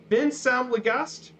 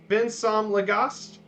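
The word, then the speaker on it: vinsamlegast: because sometimes people might have a hard time pronouncing these things. Please in Icelandic is Vinsam Legast. Vinsam Legast.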